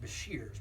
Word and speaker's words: Besher: fat on there is it's pronounced Bashir's my name is prance Bashir's when you go south